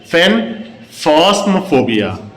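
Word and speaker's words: aphenphosmphobia: Students our next फोबिया इज़ फेन फोस्मोफोबिया। इसमें ए silent है। तो इसको हम लोग प्रोनाउंस करते हैं फेनफस्म फोबिया।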